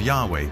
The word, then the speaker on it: Yahweh: sense was God and his name was these four letters which in English would be YH wh which we think were probably pronounced something like Yahweh but Yahweh only appears